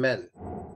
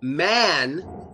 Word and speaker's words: man: For example, the words man and men. A lot of Russian people will pronounce the word man with closed lips. So they will say men. They say, Phil, you're a cool man.